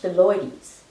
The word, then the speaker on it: phyllodes: It's pronounced phyllodes, but instead of ending in IES or EES or even EYS, it ends in ES.